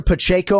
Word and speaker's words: Pacheco: upset in modern mixed martial arts history Larissa Pacheco am I pronouncing that correctly yes you got of course